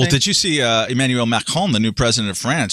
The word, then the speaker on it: Macron: But and then Macron talked about it, and I'm sorry that I pronounced the R like that, but my wife is French and she'd kill me if I didn't.